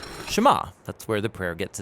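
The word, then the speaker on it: שמע: Now, the first word of the Shema is hear or listen, which in Hebrew is pronounced Shema. That's where the prayer gets its name. Now, Shema is a really common word in the Hebrew Bible, and it's obvious why.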